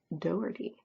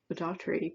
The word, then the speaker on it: Doherty: So, Doherty, Elizabeth Doherty. There we go. I've been saying Daughtry, but there is definitely no R between that T and Y, and yeah.